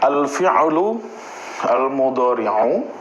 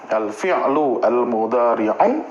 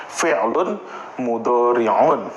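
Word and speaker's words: الفعل المضارع: Yang selama ini cuma ngomong fi'il mudharfi'il mudhar nih penyebutannya yang benar ya. antara dua bisa pakai alif lam alfi'lu almudori'un atau enggak pakai alif lam fi'lun mudoriun.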